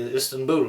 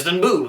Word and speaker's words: Istanbul: into the modern day Istanbul, of course, And it's actually the correct pronunciation is Istanbul, not Istanbul, but it's actually Istanbul, which means the ruler of the city of the star.